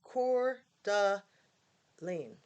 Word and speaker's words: Coeur d'Alene: given me chills anyway it also has the correct pronunciation in case anyone is curious core duh lean right we need that